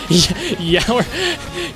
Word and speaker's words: Yore: Yore, but pronounced like hour. Yeah, yower.